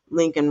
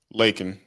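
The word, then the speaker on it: Laken: So they came up with this Lincoln Riley Act. Did I say her name right? Lakin.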